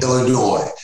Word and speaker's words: Illinois: Illinois, without pronouncing the S.